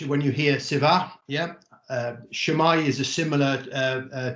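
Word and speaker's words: Sut mae: you hear siva yeah shamai is a similar uh uh term how's it going yeah shamai and people tend to respond shamai um in english it's pronounced shumai so i just just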